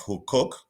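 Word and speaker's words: Huqoq: you're carrying out in uh the village of who cook uh Israel I believe it is an ancient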